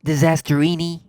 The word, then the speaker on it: Disasterina: Disasterina. That sounds like a great idea. It's pronounced Disasterini.